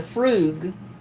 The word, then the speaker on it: frug: if someone is doing the frug pronounced f r o o g what are they